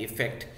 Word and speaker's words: effect: Pronunciation में भी अंतर है, अफेक्ट AFFECT एंड इफेक्ट, लेकिन दोनों के मीनिंग में बहुत अंतर है.